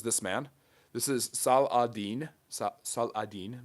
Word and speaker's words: Saladin: Saladin, that is how you actually say his name.